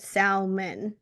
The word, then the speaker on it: salmon: foods or something and he said salmon. Salmon. like he pronounced the he said it the way it's spelled.